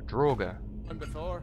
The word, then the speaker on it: draugr: HS is that D ain't you ever seen a droger that's how you pronounce it no thank you random